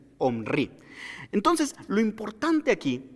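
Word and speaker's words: Omri: omir hombre un hombre no lo puedo pronunciar muy bien pero es una o m&r y omrí entonces lo importante aquí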